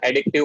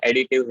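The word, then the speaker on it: additive: और मैंने बोला था एडिक्टिव मतलब बोलना, और आपने वो चीजें लिखी। एडिक्टिव नहीं है, एडिटिव है।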